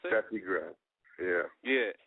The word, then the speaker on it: Steffi Graf: Because I noticed that I have a song right here called Steffi Graf. Is that how you pronounce it? Steffi Graf.